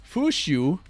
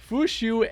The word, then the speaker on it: Fuqiu: So, we got Fushu and you don't want to mess up her name, right, when you pronounce her name. Fushu and Nahor.